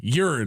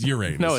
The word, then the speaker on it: Uranus: The the the word it's pronounced urine. No, it's not. It's Uranus.